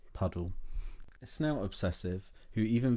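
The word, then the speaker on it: Pudel: Despite the title, our main character is not a snail and instead a woman called Grace Prud, pronounced Puddle, a snail obsessive who even views herself, Quail Surprise, as a snail.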